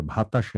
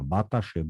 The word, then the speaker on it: বাতাসে: যে বাতাসে, এটা ভাতাসে না, বাতাসে, ব, অল্প প্রাণ, বাতাসে।